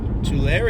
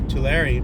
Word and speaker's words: Tulare: And then by Tulare, You know, kind of like Mike Larry from the Bad Boys movies, but Tulare, or we say Tulares, or Tulare, or Tulares, the pronunciation in Spanish, because it does come from the Spanish word for the tule plant.